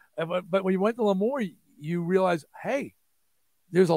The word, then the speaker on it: L'Amour: know that, but it's the club was called L'Amour. I always say it wrong. I know. No, everybody says L'Amour's. You going to L'Amour's?